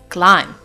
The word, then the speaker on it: climb: as you can see in the word climb I'm not pronouncing the last letter B it's not climb but it's climb in the next word